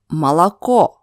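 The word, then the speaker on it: молоко: as o moria moria let's take more interesting word from the point of view of letter o malacco first two letters are not under the stress that's why they pronounce as a but the last letter is under the stress that's why it's pronounced as o malaco oh to pronounce this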